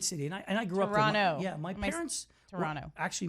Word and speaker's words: Toronto: And by the way, just so you know, it's Toronto. We pronounce it that way. If you say Toronto, they know you're not from there.